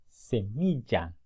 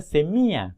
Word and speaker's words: semilla: sombrilla pasillo mantequilla ok esas palabras se pronuncian así semilla sombrilla castillo y mantequilla dice un error común es pronunciar semi a mucha gente no sé